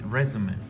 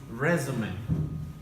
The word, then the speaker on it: résumé: I'm not sure why you said it's resume. Okay. Yes, it's a noun. Yes, as a verb, probably it's pronounced different.